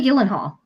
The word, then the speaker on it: Gyllenhaal: Maggie Gyllenhaal. Oh, Gill. Gyllenhaal. Yeah. Yeah. Jilly. And I'm very Gyllenhaal. Thank you. I always mispronounce that one, but yes, I'm very anxious